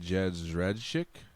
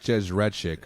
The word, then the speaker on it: Jędrzejczyk: It's like Jersey. It's like Jędrzejczyk or something.